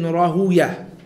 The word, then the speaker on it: Rahawayh: And some of the ulama, they pronounce his name Ishaq ibn Rahuyah. And this pronunciation differs, based on the different ulama. Some of them say that, you pronounce it Ishaq ibn Rahuyah and not Rahaway, because of the fact that the word way is said to be a name from amongst the names of shaitan.